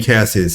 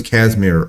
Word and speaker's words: Casimir: I was saying Cassius. His name was Casimir Funk, which I actually like better, which I'm going to do a video about.